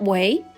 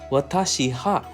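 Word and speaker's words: は: that at this time the ha after the subject is pronounced as wa when speaking but it is written as ha so it's not Watashi ha but that's right now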